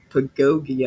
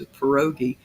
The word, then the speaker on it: Pierogi: Pagogi, I think, is how I was pronouncing it. But I knew he used a nickname. It's Pierogi.